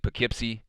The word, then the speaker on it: Poughkeepsie: on saturday for rebellion 2022 we're live in poughkeepsie that's how you pronounce it poughkeepsie new york and our first match of the